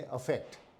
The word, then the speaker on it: affect: Effect, इसका pronunciation भी थोड़ा अलग है। ये है इफेक्ट और ये है अफेक्ट।